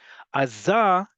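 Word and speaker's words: עזה: It's usually Aza. Azah usually is said because not only is the default on the last syllable, but we've talked about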